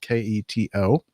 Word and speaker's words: keto: He believes that he blew a false positive because of the keto diet, K-E-T-O. Or is it Keto? Am I mispronouncing that?